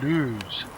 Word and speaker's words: Loose: I'm told that the actual pronunciation of loose is actually lose, as in booze, in search of which we stumble into the Checkers public house.